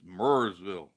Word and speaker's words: Marysville: go or maryville yeah marysville ohio give them grief like we say i i mean it's spelled m-a-r-y marysville but up here it's mersville anthony coulter and jason